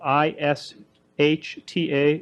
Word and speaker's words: Ishta: It's spelled I-S-H-T-A, Ishta.